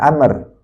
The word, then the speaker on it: Amr: Ada Umar, ada Amr.